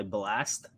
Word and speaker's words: BLXST: Like, there's an R&B artist that goes by Blast, but he spells his name BLXST, and I was yeah, like, why would you spell it that way?